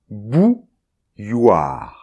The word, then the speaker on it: bouilloire: So it's after this that it becomes complicated, since we have a [j], [j] and followed by , ; [j] followed by . So this makes , . I repeat: .